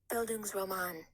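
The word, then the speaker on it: Bildungsroman: challenge sheet and it's buildings Roman which I am probably pronouncing that completely incorrectly.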